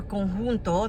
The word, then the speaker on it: conjunto: that is now conjunct, or conjunto, that's how you say it in Spanish. But they're, I gotta show you. Let me show you. So, conjunto means they're conjunct. In Spanish, we say conjunto.